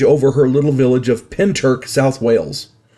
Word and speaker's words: Pentyrch: saw something strange over her little village of pent Turk South Wales it's pronounced pent Turk spelled p n t y r c pent Turk now class Clark CL Cass Clark I'll get